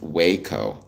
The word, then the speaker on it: Waco: Dad says it's pronounced Waco.